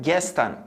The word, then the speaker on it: gestern: E esse som do S e do T vai ser regular sempre que ele aparecer no final da sílaba, ou no final da palavra, ou numa divisão de sílaba.